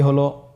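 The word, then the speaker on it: هاء: হা হরফটি উচ্চারণ ক্ষেত্রে অবশ্যই বারিক হবে এবং 1 আলিফ টেনে পড়তে হবে।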